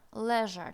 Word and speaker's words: leisure: Leisure на письме передается как S. Ж, leisure читаем, leisure. S у нас может быть как Ж, да, при произношении. Соответствовать Ж.